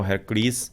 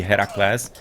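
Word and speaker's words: Herakles: bit of a switch a higher class is the Greek pronunciation or at the Greek name of the hero and Hercules is the Unruh sized one so it should be Hera class exactly as it is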